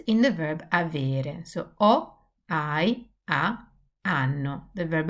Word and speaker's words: ho: So ho, hai, ha, hanno.